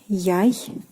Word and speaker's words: яйца: Яйцо, meaning egg, and its plural form will be яйца. Яйца. So here again, the stress changes to the first syllable, яйцо, but яйца.